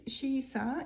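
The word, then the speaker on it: Shisa: Now, this Shiisa is the Ryukyuan pronunciation of the word Shishi, which is another name for Komainu.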